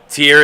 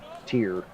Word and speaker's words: Tyr: Tier is how it's said. Okay. Tier. Okay. Greek mythology.